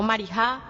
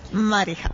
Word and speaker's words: Mariha: Me llamo Marija. Marija. Es con una J, no como la decimos nosotros, que es así, no, más suave.